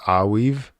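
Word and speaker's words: Arweave: It's pronounced Aweave.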